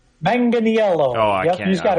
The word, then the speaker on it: Manganiello: Ninth, and I had to get this guy's pronunciation of his last name. Joe Manganiello. Did I get that right? Manganiello.